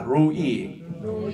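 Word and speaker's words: לֹא: 로이. 그 요거는 레시로거든요. R입니다. R. R 발음이에요. R 발음의 로이입니다. 근데 여기는 로라는 것은 L 발음이에요. L 발음. L 발음의 로입니다.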